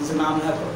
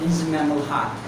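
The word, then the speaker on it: Inzamam-ul-Haq: ठीक है उसको कहते थे सईद अनवर इंजमाम हक इंजमामुल हक. तो एक्चुअली में राइट प्रोनाउंसिएशन क्या है? सईद अनवर इंजमामुल हक. ठीक है ये right pronunciation that's not Saeed Saeed Anwar.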